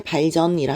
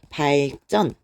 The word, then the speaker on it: 발전: 됩니다 예를 들면 자 경제 발전이라 하지 않아요 발전 요렇게 발음을 하게 되죠 그리고 우리 소설